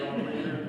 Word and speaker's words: Lindern: Next we have Lindern. Lindern. It's a long hard. Sorry, Lindern. I was thinking of the chocolate. Yeah, that's it. I've heard it all.